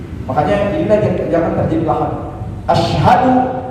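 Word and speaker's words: أشهد: Asyhadu jangan pakai ashadu, itu beda arti.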